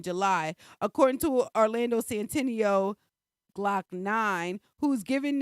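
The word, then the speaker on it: Glokk Nine: nine lakh nine lock nine nine loke nine pronounce glock nine oh it's pronounced bla is pronounced glock nine uh was sentenced wednesday to about seven years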